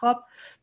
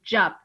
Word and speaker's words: job: Javier nos decía hop, pues no, en inglés la pronunciación es más bien job, ¿no?